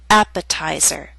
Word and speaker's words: appetizer: a true T attack appetizer and secretary are longer words they have both primary and secondary stress primary stress is at the beginning of these words but the teeth still falls on a stressed syllable its secondary stress a little weaker but still stressed that's why it's still a true tea and we say appetizer secretary end of part 1